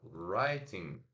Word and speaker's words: writing: Writing, a gente consegue. Write in, duas sílabas. Porque temos ali os sons de write in, writing, writing, tá? Write, ó, o primeiro I tá fazendo som de I, né? O seu som original. I, write, e o segundo o I curto, in, writing.